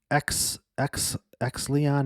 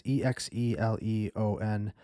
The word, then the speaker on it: Exeleon: I got this email from some random person at Exleon Magazine. I don't even know how to pronounce it. It's Exeleon Magazine.